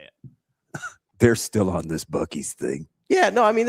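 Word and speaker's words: Buc-ee's: All the locals are pronounce it Buc-ees.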